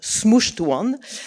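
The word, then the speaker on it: SMCHD1: probably heard this name this gene with a horrible name which I will pronounce smooshed one. So this smooshed one gene is involved in making in putting metal group on DNA and in compacting chromatin.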